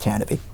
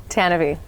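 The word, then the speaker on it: Tantive: And yes, it's pronounced Tannabe. Tannabe. I know. That's from the old radio drama. It doesn't look like it's spelled that way, but that's what we've seen.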